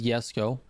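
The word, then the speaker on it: Jesko: Listen, the rest of the world says Yesco, and that is fine. I'm good with it. I say Jesco.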